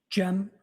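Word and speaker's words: Cem: I also spell it uh with a gem. And could you tell us your name, sir? Jim Mutlu.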